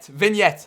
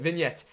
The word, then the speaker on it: vignette: How do you pronounce Vintage? this? Vignette. That's it. Vignette.